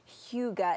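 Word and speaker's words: hygge: few years now but Huga it's Danish right and that means Comfort yes so this Danish word Huga although I sometimes pronounce it higgy even though I know it's not how you pronounce it but higgy sounds a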